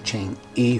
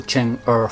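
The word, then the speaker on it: 嫦娥: I was saying Chang'e 4, but in Chinese this E is pronounced er. So Chang'e 4.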